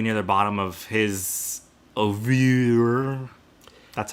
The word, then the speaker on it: oeuvre: Flag Flying, definitely near the bottom of his oeuvre.